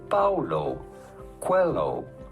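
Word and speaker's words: Paulo Coelho: how to pronounce that how do you go about pronouncing his name Paulo Quello Paulo Quello pretty straightforward once you know Paulo hello cuello Google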